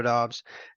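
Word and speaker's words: Doubs: we've already seen from Romeo Dobbs that or or dubs however you want to pronounce it I just think that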